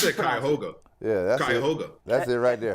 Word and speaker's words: Cuyahoga: Yeah, how I did you said pronounce it? Cuyahoga.